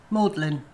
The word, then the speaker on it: Magdalene: yeah and that's Leicestershire what about Magdalene maudlin and caius keys weird language